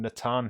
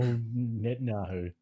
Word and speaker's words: Netanyahu: by both benny gantz and prime minister benjamin natan who said his name wrong again probably after 510 days that's like his third mention in here yeah oh netanyahu michael jordan's autografter nike once trainers from 1985